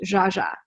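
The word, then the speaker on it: Zsa Zsa: I love Zaza Gabor I was pronouncing her name wrong for years and years and years thinking that was her name and so when it came to like finding names for my daughter the first name on the list was Zaza but I didn't realize her name's actually pronounced jaaja but Jaa was too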